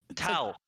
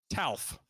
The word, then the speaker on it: Talf: Talf. Talf. Talf. Yeah. There you go. There like you Alf, go. Like Alf from the TV show, but with a T. Talf. I'm sorry. There Talf.